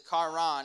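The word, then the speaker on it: קרן: gonna mess it up karan is spelled with a q pronounced with a k but it's kharan and it means to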